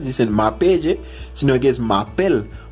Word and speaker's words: m'appelle: m'appelle, sino que es m'appelle. Porque en francés la E-L-E se pronuncia como la EL en español, como él.